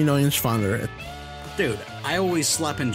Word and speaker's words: Neuenschwander: Anthony Nunschwander. You didn't pronounce it right. Anthony Nunschwander. It's N-E-U-E-N. It's Neuenschwander. Anthony Neuenschwander.